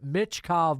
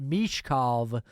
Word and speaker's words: Michkov: about mitkov and uh mitkov as I'm trying to train myself to say I think we said mitkov before he came over but mov is the uh pronunciation that we're going with now but the things that